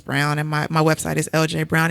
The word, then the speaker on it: Eljae: and my website is LJ Brown. It's spelled phonetically ELJAE Brown. So even Anna Marie can say it.